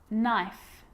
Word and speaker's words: knife: A K is not pronounced when it comes before an N, like knife, no, knee, knock, not, knowledge.